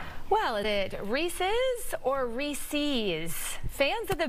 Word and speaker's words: Reese's: Well, is it Reese's or Reese's? Fans of the peanut butter cups have been divided on how to pronounce it over the years.